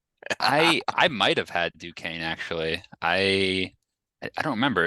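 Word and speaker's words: Duquesne: to is it pronounced it's pronounced Duane okay yeah Duane in that 116 so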